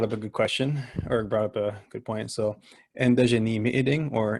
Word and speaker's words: ji-izhi-gikinoo'amaadidaa: So ji-izhi-gikinoo'amaadidaa or ji-izhi-gikinoo'amaadidaa, where it's spoken, where the dj is pronounced like enji.